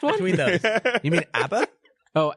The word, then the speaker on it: ABBA: You mean ABBA? Oh, ABBA. Abba. Did you say ABBA? Abba. It's the European pronunciation.